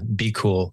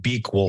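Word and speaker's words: BQool: Yeah, Be Cool, they pronounce it. I pronounced it Be Cool forever.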